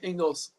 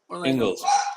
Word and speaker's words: Ingles: Ingles. Ingles.